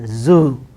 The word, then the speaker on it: zoo: How do we? Yes, even this word we pronounce as su, su like that, but it is zoo, z, zoo, zoo.